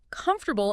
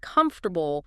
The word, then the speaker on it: comfortable: I remember a student who always stressed the wrong syllable in comfortable instead of comfortable, small thing, but it sounded awkward.